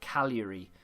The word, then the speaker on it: Cagliari: Someone said to me, don't pronounce the G in Cagliari, so it's just Cagliari, which sounds a lot better, so I'm going to go with that.